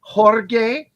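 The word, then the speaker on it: Jorge: George pz SE seor actually he said it's pronounced horge but he that gu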